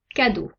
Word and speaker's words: cadeau: faire une combinaison de trois voyelles eux a pu qui produisent le sont hauts comme dans le mot cadeau deux combinaisons de lettres